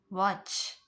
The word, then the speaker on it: watch: Match, catch, watch, witch, scratch, stitch. So we are not pronouncing T here.